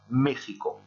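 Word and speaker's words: México: Et ce sont ces Aztèques, ces Mexicas, qui ont donné le nom au pays actuel qui est Mexico. Toujours avec cette prononciation très particulière du X qu'on a vu en classe et que je ne répéterai pas ici.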